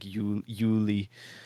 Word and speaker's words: Julie: The Germanic J is more like a yeah sound, like Yuli. Yuli, that's how it's pronounced in the Yeah, movie.